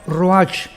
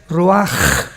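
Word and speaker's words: ruach: h, que se pronuncia roach, pero en el hebreo es roaj. La ch en el hebreo es como J.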